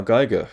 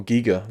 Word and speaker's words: Giger: Geiger, or Giger, depends on how you want to pronounce it, or how it is pronounced, I suppose. There surely is a correct one, but many people use different terms, or different ways of pronouncing it. It's either Giger or Geiger.